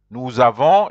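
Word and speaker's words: nous avons: and the Avon Avon the S of new you have to join it with the a that's why you have to you say news Avon because it sounds like as the news it's just like and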